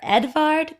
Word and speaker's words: Edvard: month is Edvard Grieg I know it looks like I just miss Feld Edward but that's how they say it up there Edvard Grieg so he lived